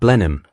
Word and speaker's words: Blenheim: The victory at Benham, as the English pronounced blindheim, changes the balance of power across Europe, queen, and wants to reward Churchill, not with gold, not with titles.